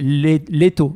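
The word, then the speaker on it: Лето: Pour le trouver, c'est difficile quand c'est Daniel qui le prononce. C'est Leto.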